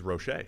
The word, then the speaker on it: Roche: If it's Quincy, the edge rusher, he's Roche. Yeah.